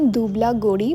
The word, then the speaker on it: দুবলাগড়ি: সময় just notice করলাম এই জায়গাটার একচুয়াল নাম দুবলা গড়ি বা দুবলাগড়ি আমি এতক্ষণ ধরে ভুল উচ্চারণ করে গেছি জায়গাটার নাম তার জন্য